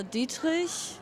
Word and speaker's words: Dietrich: I pronounce my first name in an English way because I grew up in America. And my surname I pronounce as a German because I have a German passport and I was born in Germany.